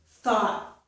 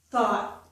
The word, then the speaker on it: thought: But normally, when we have a T at the end of a word like this, we don't release that T. So it's called an unreleased T, and it's just my tongue up there, but it doesn't release. So it sounds like this.